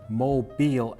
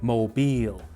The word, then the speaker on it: Mobile: looking and I found out that over here Mobile Alabama has something in common with New Orleans